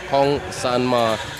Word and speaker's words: Kong San Ma: On paper, it's San Man Kong, but it's actually, I spoke to him last night. It's Kong San Ma.